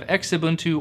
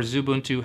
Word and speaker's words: Xubuntu: also going to have xubuntu or zuun however you want to pronounce it edubuntu auntu Studio kuun